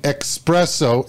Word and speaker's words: espresso: no X sound in espresso especially Escape there's no X in those words stop using it it's Escape espresso especially but the new one